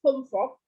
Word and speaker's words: home folk: L-nya nggak usah dibaca jelas. Home folk.